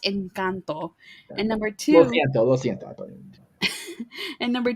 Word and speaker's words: Encanto: it's first of all it's pronounced incanto and number two and